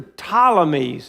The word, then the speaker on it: Ptolemies: One is the Ptolemies, and that's spelled with a P, P-T, Ptolemies.